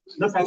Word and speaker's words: NEPA: NEPA is what I call NEPA because it rhymes with leper.